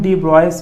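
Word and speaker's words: de Broglie: याद रखो डी ब्रॉगली को हम डी ब्रॉयस भी बोल सकते हैं, ठीक है, उसका प्रोनाउंसिएशन।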